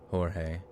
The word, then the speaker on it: Jorge: It's Jorge and not the Roe.